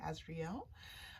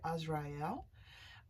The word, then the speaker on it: Azrael: Now, I do pronounce the archangel names just a little bit differently than most people do. Some people say Azrael. I do say Azrael.